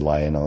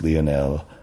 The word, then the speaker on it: Lionel: I said Lionel, it's Lionel. But pronunciation thing again, I suppose. Yeah. I mean, he is French.